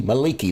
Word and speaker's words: Mielikki: be a ranger of Malachi um or Maliki Maliki that's how you pronounce it at least that's the